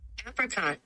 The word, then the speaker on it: apricot: One is the British English pronunciation, where it is said as apricot. Apricot. You do want to stress on the first syllable.